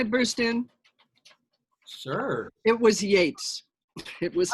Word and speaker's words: Yeats: It was Yeats. It was not T.S. Eliot. It was Yeats. But I think I said Yeats.